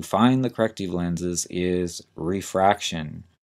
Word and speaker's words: refraction: the procedure to find the corrective lenses is refraction r e f r a c t i